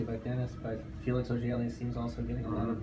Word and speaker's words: Auger-Aliassime: So maybe you can share with me, how do you pronounce his last name? Felix Auger-Aliassime. Aliassime.